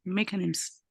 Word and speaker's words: mechanisms: the system customary security mechanisms. Bueno, muy bien. La CH en inglés usualmente la vamos a pronunciar como K, ¿sale?